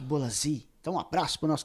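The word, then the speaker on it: Bolasie: Então, o Bruno Furtado aí falou Bolazi e é Nick Bolazi.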